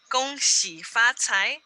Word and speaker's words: Gong Xi Fa Cai: Gong Xi Fa Cai is how we say it in Mandarin.